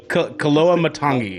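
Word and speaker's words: Koloamatangi: Did you join Demetrius Koa Matangi is how you pronounce his last name. Koa Matangi.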